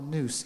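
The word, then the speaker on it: nous: a Greek word called noose n o u s I think is the pronunciate as the spelling and it means to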